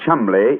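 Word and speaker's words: Cholmondeley: And being an American, he had no reason to know that the name Chumley is in no way pronounced the way it is spelt.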